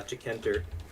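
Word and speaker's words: Tkinter: basic uh gui library in python called uh decanter decanter it's just tk int er okay it's spelled yeah um and so i tried to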